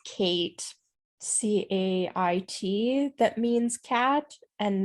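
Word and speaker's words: cait: derived from the gaelic words uh this says kate c-a-i-t that means cat and then she or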